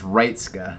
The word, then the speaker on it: Reitska: And it's Reitska is how you say his last name.